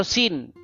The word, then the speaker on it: Sin: Sin ya atau Suen bahasa Akadia atau bahasa Enzu ya dibaca dipronounce sebagai Suen atau Sin.